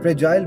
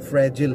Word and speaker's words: fragile: फ्रेजाइल British pronunciation है और American जो है वो फ्रेजिल है, FRAGILE।